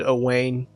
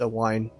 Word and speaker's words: Owain: So glad I heard him say his name, because I've been calling him in my head Owain. Apparently it's Owain. Go figure.